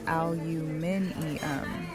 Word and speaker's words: aluminium: The point is that aluminum, how Americans say it, is not like all the other elements. I'll pick a few. erbium lithium beryllium sodium cesium Lots of elements that rhyme with aluminium. See what I'm saying? The Brits have it right.